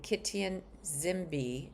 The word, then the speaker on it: Kitigan Zibi: On a bright sunny day in downtown Ottawa, Arbour arrived to be greeted by her predecessor, the Prime Minister, and Kitigan Zibi, Z I O, and Kitigan Zibi Drummers, and